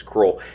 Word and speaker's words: Crowell: out to the field crawl texas or as it's spelled crowd texas that's how i heard everyone pronounce it out here was cruel anyways this is a